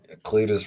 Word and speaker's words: Cletus: Cletus rhymes with fetus.